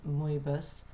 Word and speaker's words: Mebes: I keep calling you Mebes, I'm sorry, that's my English pronunciation. The correct pronunciation is Mebes, so forgive me.